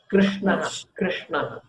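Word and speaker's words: कृष्ण: Krishna. So the rikara that we added here, remember rikara is a vowel.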